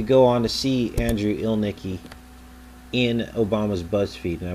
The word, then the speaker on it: Ilnicki: This is Andrew Ilnicki, and Ilnicki sounds like Elvis, and Ilnicki is how it is supposed to be pronounced according to his Facebook page.